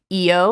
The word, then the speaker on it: Io: and I read that there's two ways it could have possibly possibly been pronounced like EO like as two syllables or one syllable godspeed trying to figure out what I like yo exactly and I read